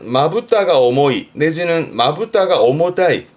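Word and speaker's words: 重たい: 발음은 오모타이.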